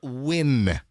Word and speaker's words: Nguyen: Nguyen, I believe, is pronounced Win.